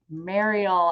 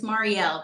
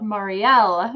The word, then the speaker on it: Mariel: Please welcome Mariel. I think I said it wrong again to the show. It's okay. Yes, it's Mariel, but that is totally fine. Yes, I have to remember that L, Mariel.